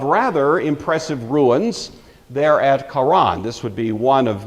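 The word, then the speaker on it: Harran: to a city called Karan h a r a an it looks like Heron it's usually pronounced Karan you have to kind of growl the H there this was a uh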